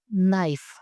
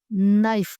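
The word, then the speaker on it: knife: इसकी इंग्लिश होती है नाइफ। नाइफ। इसमें जो के है वह साइलेंट हो जाएगा। इसे नाइफ पढ़ा जाएगा।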